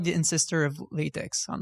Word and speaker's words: LaTeX: Not to be that guy, but everyone on the internet tells me that it's LaTeX, even if it makes no sense. Like the pronunciation? Yeah. LaTeX. Weird, yeah, huh? yeah, you're right. All my Sensi friends are like, yeah, no, tech. Yeah, no, well, what? No, LaTeX. It's LaTeX. It's your own fault.